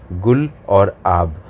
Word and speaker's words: गुलाब: Cyclone गुलाब का नाम पाकिस्तान ने दिया है और इसका अगर जो प्रोनाउंसिएशन है उसकी बात करें तो इसका प्रोनाउंसिएशन कुछ इस तरह से है, गुल और आब।